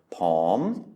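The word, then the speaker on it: ผม: So again, we have a high-class consonant and then a sonorant final. So that means it's a live syllable, which means that it is a rising tone. Pom, pom.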